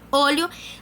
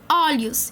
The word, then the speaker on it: olho: a pronúncia no singular por exemplo olho eu vou ter um som fechado como se tivesse um acento circunflexo mas não tem né vai ficar olho no plural eu falo olhos então tem aquele som